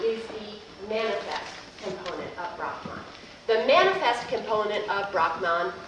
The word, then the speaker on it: Brahman: you're aware now as B R A H M A N. And the actual Sanskrit way to pronounce this is Brahman.